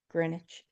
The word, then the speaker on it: Greenwich: Greenwich, England. That is how you pronounce that word. Greenwich.